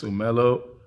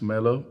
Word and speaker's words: Umelo: Last name is Umelo, pronounced Melo as well.